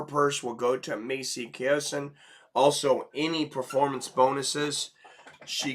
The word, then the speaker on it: Chiasson: Macy Kiyosin. All right, so I'm going to go with Buffer's pronunciation on that. He says Macy Chazon.